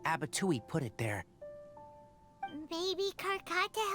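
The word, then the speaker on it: Abattouy: Abatui rhymes with Fatui.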